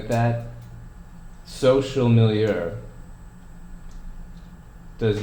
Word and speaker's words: milieu: Milieu, it looks like milieu. But that's actually pronounced milieu.